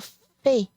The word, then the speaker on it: fait: Mi, pris, same for fait. You do not pronounce that T.